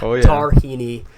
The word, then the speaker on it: Tarhini: we got our first guest my boy Tyler darini did I pronounce that right Tyler oh yeah the last